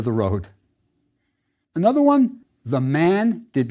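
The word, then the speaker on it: maat: A word that we've seen before is ma. It means true or just. Often it's just pronounced ma. We all do that.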